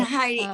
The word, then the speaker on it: Heidi: Yeah, it's the Finnish way of saying it is Heidi.